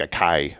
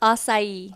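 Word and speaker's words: açaí: ignorant it's I am how do you say it asai asai and you have a good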